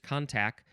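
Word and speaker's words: contack: This is perhaps from the irregular, obsolete contact, C-O-N-T-A-C-K, not contact, it is just contact, and that means contention.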